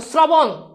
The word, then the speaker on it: শ্রবণ: বকন বক্ষণ ওকে শেষ এরপর আসো শ্রবণ একটু ভালো করে খেয়াল করো শ্রবণ এই যে দেখো র ফাল আছে আমরা আগেই জানি তালবে সাথে র ফালা হলে সেটা কি হবে দন্তস হবে তাহলে দন্তস এরপর দেখো এই যে এই যে র ফালা আছে তাই না আমরা আগেই পড়ছি সেটা থাকলে কি হবে ওকার হবে তাহলে এবার তুমি ওকার